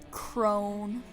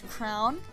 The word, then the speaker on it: Crown: The spelling makes me want to pronounce Crone, but I'm pretty sure it's Crown.